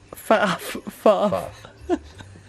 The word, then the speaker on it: faff: Faff. Because it rhymes with path.